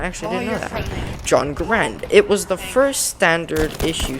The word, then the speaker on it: Garand: Although the Garand is frequently pronounced Garand, the preferred pronunciation is Garand to rhyme with errand.